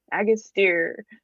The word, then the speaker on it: Agastya: Agastya.